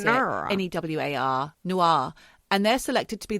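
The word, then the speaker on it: Newar: I don't know how you pronounce it. N-E-W-A-R. Nuar.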